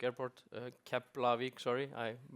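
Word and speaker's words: Keflavík: So yeah, we are here uh to go a little bit uh through with you on what we're doing at Kapl airport uh Kaplavik sorry I mispronounced myself uh and want to go a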